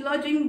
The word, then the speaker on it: lodging: Here the word is lodging, D is silent here.